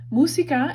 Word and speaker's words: música: hears music on now música it has an accent mark on the you that's it's kind of like romantic oh it's making you say musica instead of musica musica Romantica oops okay